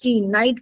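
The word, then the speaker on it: knight: Sound is ऑफ न नाइट इट इज नॉट ऑफ क जबकि हम स्टार्ट किससे करते हैं नाइट की स्पेलिंग? के एन आई जी एच टी। आप सोच सकते हो कोई ऐसा word? Can you think of एनी any such word? But वी यूज़ we make के साइलेंट। हम उसको साइलेंट कर देते हैं।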